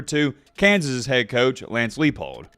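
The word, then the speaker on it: Leipold: Kansas's head coach Lance leapold I said Leo it's lifeold right I do apologize if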